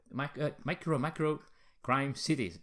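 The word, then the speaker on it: MicroMacro: Crime City: But the winner was this one here, Micro City, the Micromacro Crime City. That's how you pronounce it.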